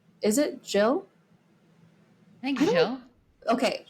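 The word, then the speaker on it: Gilles: um X is how we pronounce is it Jill thank Jill okay Jill is how we pronounce um uh Vanessa's last name but I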